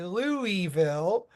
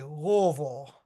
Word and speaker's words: Louisville: properly pronounce Louisville so a lot of people will say Louisville and I like to tell people it's like you have marbles in your mouth and you say Lille so you'll see that